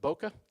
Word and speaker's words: bokeh: all about bokeh now is that the proper pronunciation Boca yeah every time I say that I want